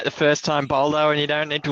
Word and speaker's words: Boldo: a little bit later, I'm pretty sure he likes it to be pronounced Boldo, guys.